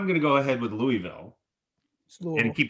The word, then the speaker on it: Louisville: It's pronounced Louisville. Louisville.